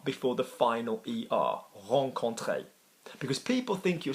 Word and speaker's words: rencontrer: speaker seems unnecessary so hong Conte is to meet somebody for the first time now this verb is also problematic because it is pronounced Hong Kong clay and there are many